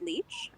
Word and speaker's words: Lich: say your last name is it or is it lich i've always said lich and i thought her first name was but it's is that correct i i believe she pronounces it leech um and even if she doesn't i feel like that's fitting um so i i say leech you know we would